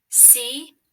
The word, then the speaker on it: come: There is also the letter E at the end of this word that doesn't spell any sound. K-a-m. C-O-M-E. Come.